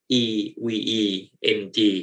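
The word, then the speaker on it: EVE-NG: ครับ โปรแกรม ตัว นี้ ชื่อ ว่า EV ngg นะ ครับ หรือ บาง คน อ่าน ว่า EV ng นะ ครับ อ่ะ เรา มา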